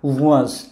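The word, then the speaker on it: wąż: আবার বলতেছি এটার উচ্চারণ হচ্ছে অ এবং শব্দটার উচ্চারণ হচ্ছে ওয়াজ।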